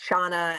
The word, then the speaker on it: Shauna: And my name is pronounced Shauna, and don't worry about getting it wrong.